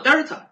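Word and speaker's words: Δ: 牛，这个三角读作 delta，意思是末值减去初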